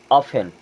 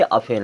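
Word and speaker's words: often: क्या पढ़ेंगे हसल अब ओ एफ टी ई एन यहां पे भी टी साइलेंट इसे क्या पढ़ेंगे ऑफेन कई बार स्कूल में ऐसा हुआ होगा आप इसको ऑफ्टन पढ़ते होंगे और आपके टीचर बोलते होंगे अफेन है लिसन शब्द एक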